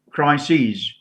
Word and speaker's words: crises: sees has two dots e with two dots crises analyses okay replacement uh what else nucle oasis